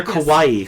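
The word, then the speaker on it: かわいい: So it's not she's not just pronouncing Hawaii like she's from Germany.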